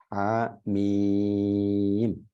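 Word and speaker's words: حم: Dibacanya pun ha dan mim, tetapi mengikuti kaidah ilmu tajwid, haknya 2 harokat, mimnya 6 harokat. Ha, mim.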